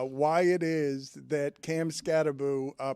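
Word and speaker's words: Skattebo: Uh why it is that Cam Scataboo uh pronounces Michael Jackson. Cam Scataboo pronounces his name Scataboo even though he only spells it with one O. And I feel like it should be Scatabo.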